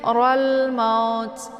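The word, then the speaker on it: الموت: Jadi cara bacanya itu jelas ya, atau juga biasa disebut dengan idhar qamariyah. Jelas bunyi lamnya.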